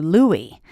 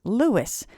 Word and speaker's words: Louis: for their shout-outs, and I actually called you Louie, and in fact, the pronunciation of your name is Lewis, so I apologize for that.